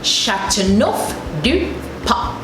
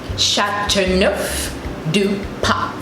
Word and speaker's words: Châteauneuf du Pape: In order to help you pronounce it easily, just think of the word enough and take out the E from enough, and you have neuf.